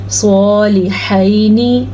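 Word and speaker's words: صالحين: صالحینی، سواد پر پڑھنا ہے. ابھی ہم نے ذکر کیا تھا نا حروف مستعلیہ کا، یہ سواد اس میں شامل ہے.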